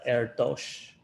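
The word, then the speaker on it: Erdős: but yeah there was a famous quote by paul erdos which said that uh it's pronounced like air dosh kind of um pronounce like that uh but like basically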